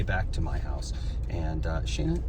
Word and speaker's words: Shayna: And yes, that's how her name is pronounced, Shayna. So there you go. People were debating. Get back in here. They were debating how to pronounce it. They were debating how to pronounce it. Long A.